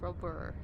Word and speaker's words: Robert: It looks like Robert. He's French, so it's pronounced Robert. Over there.